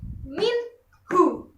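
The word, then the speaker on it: مِنْهُ: Kita baca jelas jadi minhu, bukan minhu.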